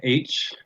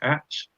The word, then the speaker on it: Atch: with us here and H from H Attachments, which I thought was Atch, but I'm glad that we have the people that pronounce things correctly because it's H.